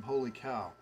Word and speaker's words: Holy Cow: of ood yet from holy cow and that is how you say it it's most people figure it out it's holy but then the caw sometimes people say call but it's actually cow and uh uh you